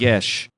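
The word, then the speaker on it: geas: this a you're saying is it the g-e-a-g-e-a-s yes that is apparently pronounced yes oh i didn't know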